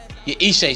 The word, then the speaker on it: Ishe: 966 days from his last win versus Ish Smith. Literally an irrelevant opponent. What we call them is Ishe Smith. Yeah, I said Ish, my bad, Ishe. I always say Ish.